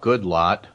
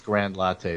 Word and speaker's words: Goodlatte: you could see that my pronunciation of Bob Goodlatte is the approved one. Okay, good latte. I thought that you don't pronounce it as Grand Latte the way I was doing it.